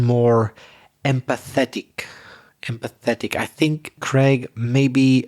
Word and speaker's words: empathetic: looking for is empathetic empathetic so what's that four syllables whether empathetic yes empathetic and you need to stress the third syllable empathetic i want to